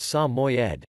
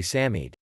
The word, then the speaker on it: Samoyed: the name of the samoyed is often mispronounced most people assume that the name of this handsome dog is pronounced samoyed but the correct pronunciation is actually samid the samoyad also has